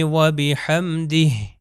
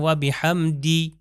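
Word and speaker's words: وبحمده: اب میں تلفظ کرتا ہوں آپ دیکھیے سبحان ربی العظیم و بحمدہ دی دیکھیے آخر میں ہے کی آواز. اگر میں کہوں و بحمدی تو اس کا مطلب ہے کہ آواز نہیں آئی.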